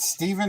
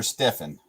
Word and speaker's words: Stephen: was at Steph is is that Stephen or Stefan well I don't know it can be said both ways I am I have